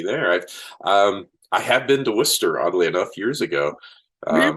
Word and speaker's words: Worcester: And everyone's like, it's Worcester. What's wrong with you? Okay, it's Worcester. yeah, Worcester or Worcester. Yeah, There's a lot of different people call it different things. sure. Yeah, it's more the British pronunciation.